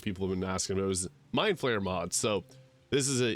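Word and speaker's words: Mind Flayer: about this in the previous video I wasn't mispronouncing mine flare it's the ulate named mod so if you're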